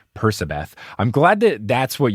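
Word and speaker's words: Percabeth: you for correcting me i will start saying persabeth i'm glad that that's what you said for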